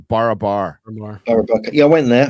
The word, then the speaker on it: Barabar: on Uncharted x uh bar say it right barabar bar yeah I went there I went to